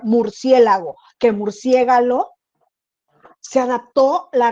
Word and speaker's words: murciélago: el grupo que teníamos ella pronunciaba no pronunciaba murciélago ella decía murciégalo y es que el murcia galo y